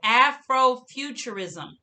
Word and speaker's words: afrofuturism: term now listen because this is a big word and it has a lot of syllables in it the term is afrofuturism afrofuturism so let's see afrofuture six syllables afrofuturism and what it means